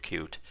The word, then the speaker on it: Qt: this person working with cute is how do they pronounce it and many times I go on to their YouTube tutorial videos and I hear q-t-qtqtqt and I kind of